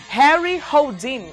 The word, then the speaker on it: Harry Houdini: Harry Houdini, é assim que pronuncia, né?